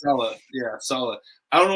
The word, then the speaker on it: Saleh: It's Saleh.